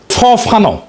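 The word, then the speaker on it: Fanon: ফানো নাম আসল উচ্চারণটা।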